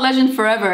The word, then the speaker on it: LGNDFRVR: It's called Legend Forever, and the way it's spelled, LGNDFRVR.